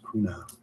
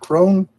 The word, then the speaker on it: Kuna: It's pronounced Kuna. Cool. It's cool. So it's pronounced Kuna, not Crone.